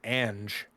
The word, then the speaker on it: Ange: Angie yeah yeah um Angie is anger or Angie how do you say it they've been they've been saying it ange ange yeah posted cogloo